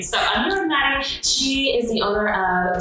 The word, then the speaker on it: Matti: It's Matti, honestly. Okay. I have a hard time saying it with the T. It's spelled Matti, and people are like, is it Matti? I'm like, we're not British. We're fine. It's just Matti.